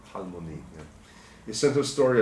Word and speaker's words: Halmoni: That's how it's spelled. Halmani, but Halmoni.